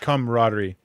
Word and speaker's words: camaraderie: like that companionship and how do you say the word kader caderie thank you camaraderie camaraderie I love seeing that